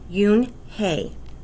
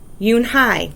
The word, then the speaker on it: Unhei: she nodded slowly yes it's pronounced yoon hey and it means grace mr kim added yoon hai sorry joey said slowly and this time perfectly it made you yoon hey smile i'll have it